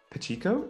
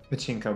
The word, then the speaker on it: pachinko: and the yeah and the pachico is that how you say it pachinko machine yes that love those you